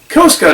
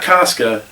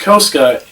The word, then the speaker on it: Koska: Koska, not Casca. It's pronounced Koska in the season finale.